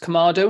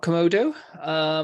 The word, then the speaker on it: Kamado: Well, first and foremost, it's pronounced Kamado, not Komodo.